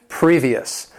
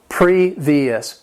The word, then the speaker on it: previous: Number 20, previous. This word has 3 syllables. The stress is on that first syllable. Previous.